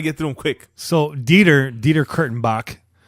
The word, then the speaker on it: Dieter Kurtenbach: So, Dieter Kurtenbach, it's spelled exactly how it sounds, Exactly.